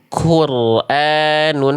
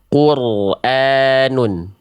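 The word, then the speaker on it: قُرْآنٌ: Jadi kayak ada becek-beceknya. Quranun enggak boleh. Tapi bacanya insyaallah lebih tepat. Quranun. Quranun. Beda enggak antara ku ku dengan ku? Coba ya diperhatikan perbandingannya itu beda sedikit makhraj.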